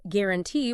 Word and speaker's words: guarantee: you might expect, or guarantee, where gua is pronounced, with a simple G sound.